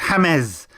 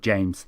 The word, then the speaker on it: James: James Hames Rodriguez. There's me thinking he was called James.